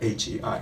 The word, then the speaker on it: Hei: that you now know how to pronounce my name. Hei is actually the H-E-I, Hei, okay?